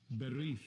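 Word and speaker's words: בְּרִית: Let's get the pronunciation. Strong's H 1285. Berith.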